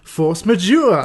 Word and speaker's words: force majeure: believe French movie called I believe you say it like force majeure which is a movie